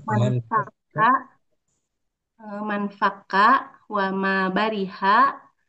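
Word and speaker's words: ما انفك: adapun adapun eh mazala eh ma anfaka ma bariha manfaka gitu bacanya manfaka eh manfaka wama bariha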